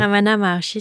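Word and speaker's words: Ramana Maharshi: Euh Ramana Marchi, c'est bien comme ça qu'on prononce. Oui, Ramana Marchi, c'est un grand sage.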